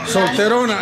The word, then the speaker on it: solterona: Solterona, la solterona. Solterona. ¿La soltera o solterona? Como la llorona.